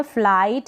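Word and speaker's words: flight: यहाँ पर फ्ल, FL का उच्चारण मैंने आपको बताया था, जो प्रैक्टिस सेशन था उसमें FL को फ्ल पढ़ेंगे, I को आई पढ़ा जा रहा है और T को ट, और GH यहाँ पर क्या है? साइलेंट है।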